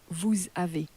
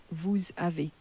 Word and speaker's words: vous avez: A moment ago you were, because we said you have in the way we're now pronouncing it is Vous avez. Vous avez. because that S is crashed into the A that follows.